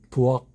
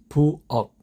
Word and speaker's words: 부엌: 마지막 단어 종성의 자음은 키읔이지만 발음은 억, 강한 그 발음입니다. 다시 한번 수박, 수박, 수박, 수박, 박, 박, 박, 부엌, 부엌, 부엌, 부엌, 부엌, 부엌.